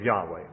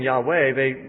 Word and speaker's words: Yahweh: When the Septuagint was translated, the Old Testament into Greek, the Septuagint says, whoever utters the name of Yahweh will be put to death.